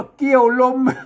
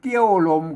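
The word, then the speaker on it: เกี่ยวลม: อ่าน ว่า ได้ อา ว่า เกี่ยว ลม เกี่ยว ลม มัน เกี้ยว ลม ก็ เกี้ยว ลม มัน ก็ มัน มัน ไม่ ได้ เรื่อง มัน มัน ต้อง เกี่ยว ลม ครับ เกี่ยว ลม เห็น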